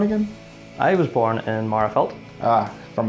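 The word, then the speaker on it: Magherafelt: I was born in Marafelt. From Marafelt.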